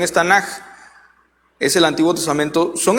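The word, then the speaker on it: Tanakh: lo abrevian con las siglas que en su pronunciación es Tanaj, es el Antiguo Testamento.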